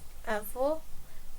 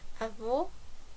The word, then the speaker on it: avô: But if it's letter E plus acento agudo, the meaning would be is, so the verb to be e, avô, grandpa, avó, grandma, avô, avó, avô, avó.